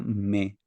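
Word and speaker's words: μή: Pero el segundo verbo, me coliete, donde me es la negación, esto que está aquí al principio, se pronuncia me.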